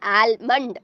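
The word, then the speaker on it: almond: ஆனால் சின்ன பிள்ளைங்க சொல்லிக் கொடுக்கும் போது ஆல்மண்ட் அப்படின்ற அந்த எல் சைலண்ட் சவுண்டை வந்து அவங்க ஆல்மண்ட் அப்படின்னு தான் சொல்லிக் கொடுப்பாங்க.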